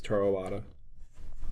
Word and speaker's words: Toru Iwata: Once again, at this investor meeting, it's Toru Iwata. Have I been pronouncing that name right?